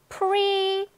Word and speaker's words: pretty: 그 다음에 또 pretty. pre가 더 강하고 높고 길게 발음이 됩니다. 그렇기 때문에 pretty 마구마구 굴려.